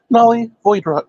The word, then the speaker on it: Nahli Voidwrought: Nahli Voidwrought, is that correctly pronounced? Nahli Voidwrought, yes.